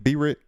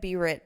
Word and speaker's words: Britt: I'm with my girl Brittany, B-Rit. No, What you? I said B-Rit, but it's Yeah, Brit.